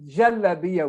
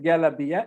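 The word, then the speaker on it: galabiya: an egyptian word actually in some countries it's pronounced jaladiya with jai another in egypt it's pronounced gallabia and the plural here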